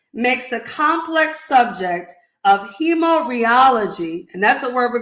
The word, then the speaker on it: hemorrheology: I am so excited to learn more about hemorrheology. Did I pronounce that word right?